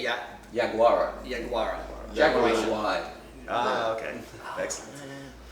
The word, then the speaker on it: Yaguara: Yaguara.